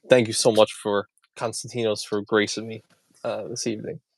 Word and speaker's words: Konstantinos: And I said, it's Konstantinos.